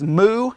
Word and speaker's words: Moo: We're going to write down the name Douglas, and I believe the way you pronounce his last name is Moo, M-O-O.